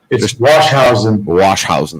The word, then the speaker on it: Washausen: will introduce you and how do you say your last name wash housing that's what i thought yep all right perfect screw